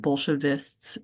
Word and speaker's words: Bolshevists: He's pronouncing it Bolshevists, STS at the end. And I think we today put like KS at the end.